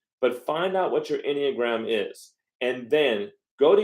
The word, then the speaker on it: Enneagram: Enneagram on other videos I want so Enneagram is spelled e-n-n-e-a-g-r-a-m Enneagram okay go look up a truly free